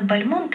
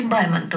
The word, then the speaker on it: Бальмонт: Но мне очень дорог, может быть, облик поэта Константина Бальмонта или Бальмонта. Вот по-разному, с ударением разным, но вообще-то стали Бальмонта говорить, да.